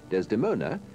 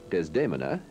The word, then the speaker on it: Desdemona: Desdemona, or Desdemona, to pronounce the name of Otello's wife in the Italian way, is the Bulgarian soprano Stefka Evstatieva.